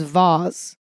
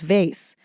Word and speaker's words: vase: And apparently the British pronunciation is vase and the American is vase.